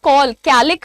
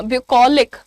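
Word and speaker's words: bucolic: Pronunciation कैसे? Call बोलते हो ना? कॉल कैलिक नहीं बोलना। ब्यूकोलिक। ठीक है? सी A double L is call.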